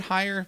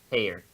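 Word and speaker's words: Heyer: Teach to our politics is it higher said how you pronounce her name hair hair okay either way so there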